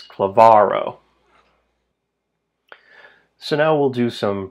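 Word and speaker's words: klavaro: It's not Clavo, it's cleavarro.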